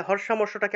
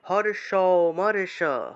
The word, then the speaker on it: হর্ষামর্ষ: তাহলে হর্ষামর্ষটাকে আমরা উচ্চারণ করব হর্ষ মর্ষ, হর্ষ মর্ষ এইভাবে।